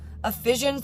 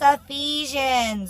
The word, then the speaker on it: Ephesians: bummer but um yeah Sunday School uh I pronounced things wrong because I'm like Ephesians they're like it's Ephesians and I'm like oh do you want snack